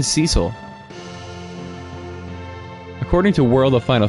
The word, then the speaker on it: Cecil: I keep saying Cecil. According to World of Final Fantasy, it's pronounced Cecil, but...